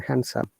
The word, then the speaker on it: handsome: Okay, and let me show you about the handsome, because it's better to understand and see that there is no D sound in handsome.